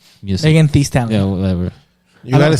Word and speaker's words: Megan Thee Stallion: But I still don't like Mega Stallion's music. Megan Thee Stallion.